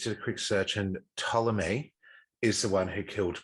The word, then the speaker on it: Ptolemy: 70 or 69 BC to the pharaoh, I'm going to try to pronounce this right, Ptolemy, but it's written Ptolemy. Okay. Yeah. I would suggest the P is silent. Yeah. Ptolemy, yes, I believe it is.